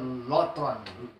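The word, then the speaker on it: λύτρον: dari kata ampuh dan neutron neutron bacanya lutron tulisannya luton jadi Apollo throsis proses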